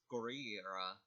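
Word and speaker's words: ゴリラ: For gorilla, it's pronounced as Gorira, and for whale, it's pronounced Kujira.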